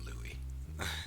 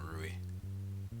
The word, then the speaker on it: Louis: but I call it I call him Louie not ruy I believe that's the pronunciation anyway so anyway let's